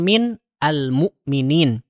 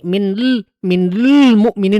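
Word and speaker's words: مِنَ الْمُؤْمِنِينَ: Jadi asalnya min almukminin. Karena orang Arab kesulitan kalau bacanya seperti ini. Minl mukminin susah jadinya. minal mukminin gitu teman-teman ya.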